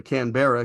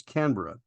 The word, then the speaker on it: Canberra: from Great Britain, and we call it the Canberra here in the US, but it was pointed out to me by viewer Sarah Jane that the proper pronunciation is Canberra.